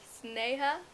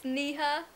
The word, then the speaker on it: Sneha: It is pronounced Sneha, not Sneha, not Shneha, which I get a lot as well.